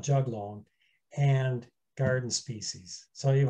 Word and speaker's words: juglone: Some people pronounce it juglone. I call it juglone, and garden species.